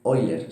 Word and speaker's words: Euler: libro que esta definición procede del matemático alemán oilers se escribe euler vale y pueden concluir una frase